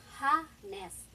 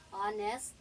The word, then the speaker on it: honest: Ito guys, yung H, silent H po yan pag nag-pronounce ka ng word na ganito. So hindi mo siya ipo-pronounce na ha-nest o kaya hour. Okay? So ipo-pronounce mo siya as honest at saka hour.